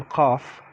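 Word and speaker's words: قاف: after that we have the letter cough cough like the name cosim or the name kaiser and kaiser means caesar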